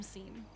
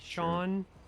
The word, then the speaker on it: Sean: It could be because you called him Seam. Oh, sorry, Sean. There you Thank you. Thank you so much. No problem. People say his name wrong a lot, unfortunately.